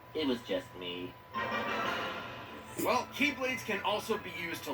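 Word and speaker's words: χ-blade: it means the x-blade it's just pronounced like keyblade even though it's just one keyblade and oh it's is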